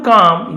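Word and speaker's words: calm: इसलिए an opportunity learn to काम your mind. Learn यानी सीखो। काम यानी शांत करना। यहां पर भी एल साइलेंट है।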